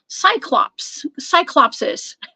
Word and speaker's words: Cyclopes: Okay, and those are the Cyclopses.